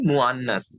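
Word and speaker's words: مؤنث: তো এটার vice versa আছে, যে এই যে মুজাক্কার, এই শব্দটার উচ্চারণ হচ্ছে মুজাক্কার, আর এই শব্দটার উচ্চারণ হচ্ছে মুআন্নাস।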